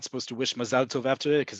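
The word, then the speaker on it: מזל טוב: It's just how you say it. It's the sing-song that you add to the word versus the emphasis, because again, Mazal Tov. I'm not going to pronounce the other way. You know the other way. That is not how we pronounce it in modern Hebrew in Israel. Full stop.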